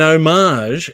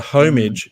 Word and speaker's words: homage: So an homage, if you will, or a homage, if you don't want to say it right, but an homage to Titus is the Andre the Giant figure.